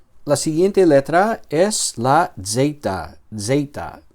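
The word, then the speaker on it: ζῆτα: Vale, nuevamente aquí hay una e que vamos a pronunciar como una vocal larga. Eita. Y esta letra suena como una una Z ruda. Ah, como la Z italiana. Z, Z, zeita. Zeita. Vamos a pronunciar la letra así.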